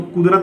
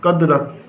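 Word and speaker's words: قدرت: कद, फिर रेते रत, कदरत। तो ये कदरत नहीं पढ़ा जाएगा, यहाँ पर जो है हम पेश हरकत का इस्तेमाल करेंगे, तो ये पढ़ा जाएगा कुदरत।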